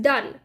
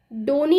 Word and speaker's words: Donne: एन एन ए और आईटी इस pronounced एक दान डोनी नहीं बोलेंगे इसको जॉन डॉनी नहीं है जॉन दो भी नहीं है आईटी इस जॉन दान ओके सो विले वे